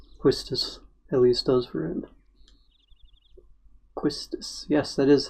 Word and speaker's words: Quistis: whole romantic thing quistis Elias does for him quistis yes that is how you say that pretty